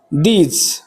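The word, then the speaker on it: those: टी एच ओ एस त्याचा उच्चार आहे दोज दोज म्हणजे ते किंवा त्या दोज दोज बॉईज ती मुले दोज गर्ल्स त्या मुली असा उच्चार केला जातो.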